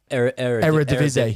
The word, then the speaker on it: Eredivisie: How do you pronounce it? Eredivisie. Eredivisie.